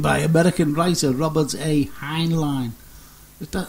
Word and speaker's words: Heinlein: is always coined by American writer Robert a Heinlein if that Heinlein I that's right this way is pronounced addressed 1961 science fiction novel stranger than